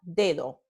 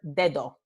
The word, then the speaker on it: dedo: You will never hear a native speaker of Spanish speaking, regular velocity, pronounce the word finger dedo. Nope, not done. What a native speaker does in regular velocity speech is say dedo, dedo. Let me slow it down. Dedo, dedo, dedo.